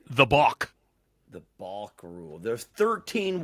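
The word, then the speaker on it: balk: of all b a l k yes a bulk yes I don't even like how it's pronounced or spelled yeah it's not like a chicken B it's a BK bulk and what is a bulk um basically it's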